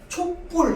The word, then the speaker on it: 촛불: 초와 불이 만나서 촛불 이러면서 뒤에 불을 뿔로 발음해.